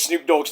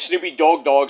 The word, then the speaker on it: Snoop Dogg: I was like, "Oh, the woman that doing the entertainment news says Snoop Dog's name wrong. Says Snoopy dog."